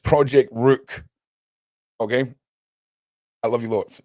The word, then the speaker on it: Project Rooq: Um, if you go to the Project Rook website, also if Lady D is watching, it's pronounced Project Rook.